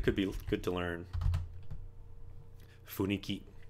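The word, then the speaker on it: 雰囲気: Funiki. Or fuinki, sometimes it's pronounced.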